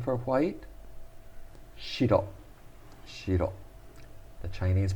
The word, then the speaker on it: 白: What is the Japanese pronunciation for white? Shiro.